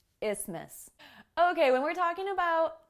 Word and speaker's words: isthmus: let's talk about topography isthmus isthmus it's even more complicated when you understand that the th is silent so i guess there's